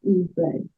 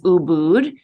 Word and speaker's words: Ubud: is it Ubud or Ubud? So I think the official pronunciation is Ubud, but a lot of people call it Ubud, like I call it Ubud. So either or.